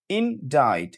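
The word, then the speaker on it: indict: এরপরে যেটা আমি বলেছিলাম আই এন ডি আই সি টি ইনডাইড এই যে ইন ডাইড এখানে যে সি টি সি টা কিন্তু উচ্চারিত হচ্ছে না।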